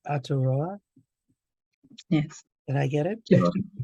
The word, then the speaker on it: Aotearoa: in which everyone was a co-parent, and it happened in, let me see if I can say it correctly, Aotearoa.